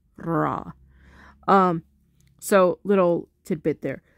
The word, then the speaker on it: ra: the only weird one because it already has an a sound so it's pronounced Raw um so little tidbit